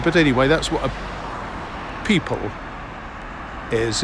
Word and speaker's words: pipal: Uh but anyway, that's what a people is. It's pronounced the same way as people, as in lots of men and women.